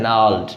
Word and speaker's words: gnarled: Next है नाल्ड. नाल्ड में G silent होते हैं, G को नहीं बोला जाता है. N से सीधा बोलेंगे, GNARLED, नाल्ड.